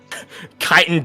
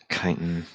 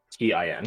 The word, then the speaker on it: chitin: so chitin devil head pouch. How do you spell that, by the way? CHITIN. Oh. Chitin. Yeah. It's not chitin. No one call it Okay. chitin, or I'm gonna smite you.